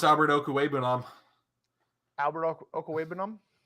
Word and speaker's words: Okwuegbunam: I just need to get you to pronounce Albert Okwuegbunam. Albert Okwuegbunam? Okwuegbunam.